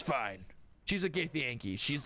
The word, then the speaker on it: Githyanki: Githyanki.